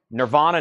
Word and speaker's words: Nirvana: Nirvana Nevermind was a 2013 pressing, $49.99. Leonard Skinner, pronounced Leonard Skinner.